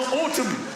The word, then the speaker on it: autumn: Sometime in the autumn. I've never got the N at the end of autumn.